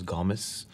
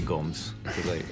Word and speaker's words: Gomes: Well, the correct pronunciation is Gomes. This is Gomes. But I say Gomes.